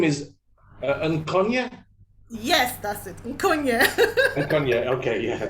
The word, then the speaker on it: Nkonye: how do you say your name is uh and kanye yes that's it okay yeah so i can't